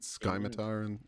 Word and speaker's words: scimitar: Yeah, we pronounce it Skymatar in this campaign.